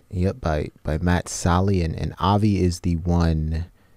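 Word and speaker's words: Sallee: was replaced by Matt Sally how do you pronounce his name it's Sally Yeah by by Matt Sally and and is the one here in the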